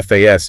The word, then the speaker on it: fasten: So, you don't fasten your seatbelt, you FAS, you don't have ten your steps, you has in them.